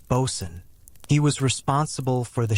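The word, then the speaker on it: boatswain: Then there was the Bosan, often pronounced Bosan.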